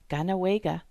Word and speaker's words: Kahnawake: For example, Saint Kateri Tekakwitha's name and that of her community, KAHNAWAKE, have Mohawk pronunciations with French spellings. So for English speakers, the important thing to remember is that the letter K gets a G sound.